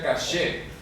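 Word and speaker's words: קשה: La segunda palabra, esto se pronuncia caché.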